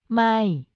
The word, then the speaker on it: ไม่: ไม่ becomes a negation word when used at the beginning of the sentence. The pronunciation is sharp.